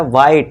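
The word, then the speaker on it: white: तो ये बनेगा वाइट। इसी तरह इसे भी क्या पढ़ेंगे? वाई वाई। ठीक है? एच को हमने साइलेंट कर देना है।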